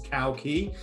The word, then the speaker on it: Cowkey: Everybody listens to this knows that I'm delighted, but I'm genuinely delighted to have the wonderful Marcus Cowkey. I've been instructed that's how you pronounce his name.